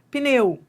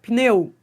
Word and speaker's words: pneu: Ó, pneu. Adriana, esse p é mudo? Não, esse P não é mudo. Você tá pronunciando, ó. pneu.